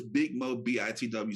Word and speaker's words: Big Mo BITW: What does Big Mo BITW stand?